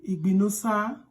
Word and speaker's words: Igbinosa: Letter I in Ędo vowel is pronounced as E.